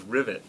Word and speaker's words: Rivet: wrong Kenny moer uh my last name is rivet like you would you know have rivets on